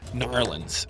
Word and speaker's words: New Orleans: I don't know how to pronounce it the way they like to have it pronounced, but Narlands is what it sounds like when they pronounce it.